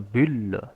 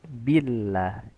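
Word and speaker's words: بالله: Pada kata billah, maka sempurnakan harakat kasrah pada huruf ba. Bi billah J bil tapi billah. Jangan dibaca ikhtilas atau membaca dengan sebagian harakat ya. Dan juga isyba jangan membaca dengan menambahkan kadar harakat ya.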